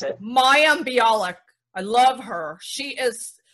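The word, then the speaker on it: Mayim Bialik: Say her name right, because nobody can pronounce it. Maya Bialik.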